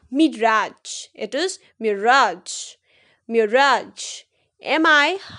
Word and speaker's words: Mirage: How you will pronounce it as? Rafale, Rafale. Got it? Let's move to the next. MIRAGE.